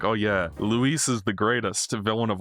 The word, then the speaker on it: Louis: And then it turns out it's spelt the French way, but it's pronounced the Spanish way. So it's Luis.